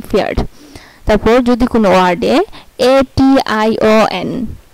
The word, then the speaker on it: Pferd: তারপর হচ্ছে যদি কোনো ওয়ার্ডে পিএফ একসাথে থাকে তাহলে এর উচ্চারণ হবে ফ এর মতো, যেমন ফেয়ার্ড, PFERD, ফেয়ার্ড।